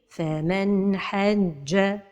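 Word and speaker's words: فمن حج: Donc la prononciation correcte est faman hajja.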